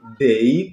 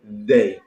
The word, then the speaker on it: they: inglês é de OK vamos colocar a língua a romper os dentes OK assim ao invés de Day nós vamos dizer Day Ok they então fica